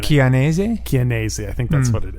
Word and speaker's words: Dominic Chianese: No, it's definitely a hard k at the beginning. Chianese? Chianese, I think that's what it is.